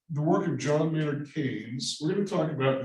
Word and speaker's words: Keynes: is Jonathan France Keynes it looks like Keens uh it's spelled almost like Alicia Keys being the singer but Keynes was an interesting character